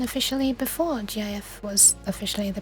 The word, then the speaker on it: GIF: I'm always gonna pronounce GIF as GIF. Because that actually... Yeah. I know! You know what? I'm gonna pronounce it as... Wait. I think I'd agree that GIF should be pronounced GIF. Gotta do this GIF image. If you're gonna pronounce it as a word, firstly, it's gonna have to be GIF because that's what the creator said, but I think what